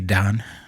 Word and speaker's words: dan: uh with Sensei Tony mhm uh seventh degree Don even though it's spelled Dan I know I I man I